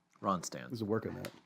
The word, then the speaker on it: Ronstadt: There's a Ronstadt. couple D's in there. Ronstadt. Rond. There's one D. There's unnecessary D's are in the name. Right. Ronstadt.